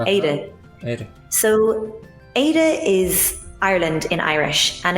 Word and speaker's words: Éire: And actually your slender R sounded very good. It's nearly like people say like a Spanish D. Ede. Ede. So Ede is Ireland in Irish,